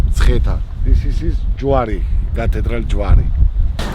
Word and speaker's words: Mtskheta: Now I'm having real problems with the pronunciation of this place, so Zaza is going to help. This is Mtskheta. Mtskheta. Mtskheta.